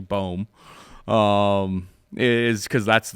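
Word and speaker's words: Böhm: The reason I'm mispronouncing her name, it's actually Bohm, is because that's like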